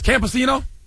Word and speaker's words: Campino: How do you pronounce this? Campino. That's it. I pronounced it right.